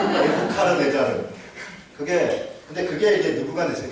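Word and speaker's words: 네부카드네자르: 성경 이야기를 하는 건데 느부갓네살 무슨 우리 성경 발음으로는 느부갓네살인데 뭐 네자르 무슨 카자르 어쩌고 그랬을까? 뭐라고요? 네부카르네자르. 저런 좋은 발음입니다. 네부카르네자르.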